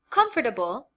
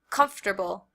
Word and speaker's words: comfortable: Now, if we look at our second word, comfortable, comfortable, here we have four syllables. Now I do want to note, American English speakers usually reduce this word to 3 syllables.